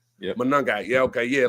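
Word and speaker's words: Monangai: His name at uh his name is Kyle, but the rookie Kyle Manungai Manungai.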